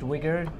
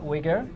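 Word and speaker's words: Uyghur: isn't that's correct okay it's a bit of a weird spelling there but it's pronounced wigger you know kind of like a white guy with dreadlocks yeah anyway right it's pronounced wigger and if you search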